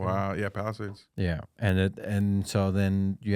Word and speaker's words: Palisades: Wow, yeah, Palisades.